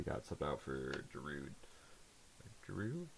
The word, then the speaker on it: Giroud: Giroud? Yeah, that's how you say it. It's French.